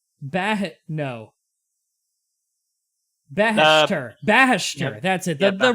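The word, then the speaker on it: Baheshtur: Alright, how do you pronounce this guy's name? Beishater? No. Bahashter.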